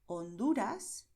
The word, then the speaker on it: Honduras: Bueno, pues sigamos con la letra H, que en español siempre es muda, es decir, se escribe pero no suena. Por eso decimos Honduras, Bahía.